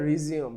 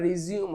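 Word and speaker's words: resume: এই যে আবার চালু করা এটাকে বলা হয় রিজিউম বানান একই উচ্চারণটা রিজিউম হবে তখন অর্থটা চেঞ্জ হয়ে যাবে এবং পার্টস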